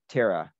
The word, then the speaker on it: ptera: Most orders of insects, if they have wings, have the root word ptera, terra. P is silent, but it's fun to say.